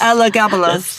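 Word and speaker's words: Elagabalus: but first I have to learn how to pronounce that man's name properly. Should we practice? Ella Gabalas. Ella Gabalas.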